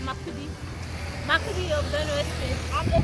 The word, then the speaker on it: Makurdi: They said it's pronounced Makurdi of Benue State.